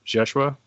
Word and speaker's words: Jeshua: So could you explain that so that everyone's aware of why you refer to him as Jeshua? It's the name, his Hebrew name.